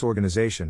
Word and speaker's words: organization: Phonetic Alphabet to pronounce organization have in mind that the size of the syllable indicates where the accent or stress is in this case the accent is in the fourth syllable corresponding to Zay below